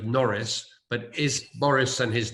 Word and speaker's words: Norris: Well, Boris rhymes with Norris, but is Boris and his team getting the COVID-19 thing right, or are they barking up the wrong tree?